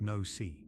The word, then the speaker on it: Noc: One beluga named Nock, pronounced no-see, famously caused a diver